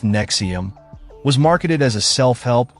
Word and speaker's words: NXIVM: organizations of our time Nexium pronounced Nexium was marketed as a